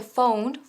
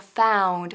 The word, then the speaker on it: found: Found, que no se dice phoned, sino found. Fíjate, found y repite conmigo. Found, con la boca bien abierta.